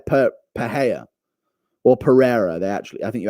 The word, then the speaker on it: Pereira: P per Pera or Pereira they actually I think you actually pronounce it in pereira's name no no it's Pera for that one you pronounce it in Alex pereira's name but Mikel Pera should